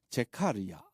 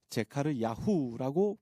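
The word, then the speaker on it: זְכַרְיָה: 그의 이름 스가랴, 원어로는 제카르야 또는 제카르야후라고 발음하며 여호와께서 기억하셨다라는 뜻을 가지고 있습니다.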